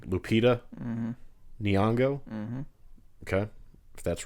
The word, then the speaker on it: Nyong'o: I always have the hardest time pronouncing her name. Lupita Nyong'o.